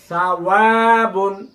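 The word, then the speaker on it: ثَوَاب: ওয়ার উপরে জবর জের পেশ যাই থাকুক ঠোঁট গোল করে উচ্চারণ করতে হবে। ওয়া, বা দুই পেশ বুন, বা দুই পেশ বুন, সাওয়াবুন। আমার মুখের দিকে লক্ষ্য করুন। সাওয়াবুন সাওয়াবুন। জিহ্বার আগা বের করে করে প্র্যাকটিস করতে হবে ইনশাআল্লাহ। হ্যাঁ, জিহ্বার আগা বের করুন।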